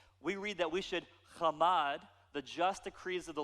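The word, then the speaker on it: חמד: The word to covet here it's a verb, and it's pronounced chamad. Everyone say chamad.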